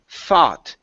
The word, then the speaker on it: thought: to the word thought give me a th sound okay if you pronounce an F that means to fight in past tense okay so this is thought Emily thought for a